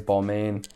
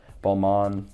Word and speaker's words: Balmain: me all right i've i've heard it being pronounced both ways balmain balman these i have not